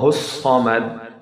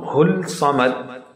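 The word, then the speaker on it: الصمد: Lam will be simulated silent. In written is available, but not in the pronunciation. In pronunciation, Hu sound will touch directly to the Sa sound. Hussamad. Hussamad. Not Hul Samad. Because the sword is among Shamsi letter.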